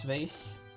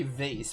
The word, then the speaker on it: vase: That would have been a good one because I I've heard people say vase, but I say vas.